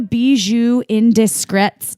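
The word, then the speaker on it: Bijoux Indiscrets: caps and go to be zoo indiscreet comm how do you spell it in bij o ux i n D is C rets calm yeah it's like bees you like they're they're from Barcelona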